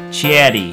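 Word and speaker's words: チェリー: So the English word cherry will be changed in its Japanese katakana version into chieri.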